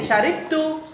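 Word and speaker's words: شَرِبْتُ: Ya, jadi membacanya jadi syaribtu. Kenapa? Karena dia timbangan wazannya fa'ila. Alah, fadhal. Timbangan wazannya dia fa'ila, bukan fa'ala. Maka kalau timbangannya fa'ila menjadi fa'iltu, yaitu syaribtu, gitu.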